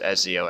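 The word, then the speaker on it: Ezio: dampier and uh yes I'm fully aware it's pronounced eziio I call him EO because I think he's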